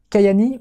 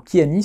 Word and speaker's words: Kyäni: Kayani, ou Kiani, selon si vous le prononcez à l'américaine ou à la française, c'est une société qui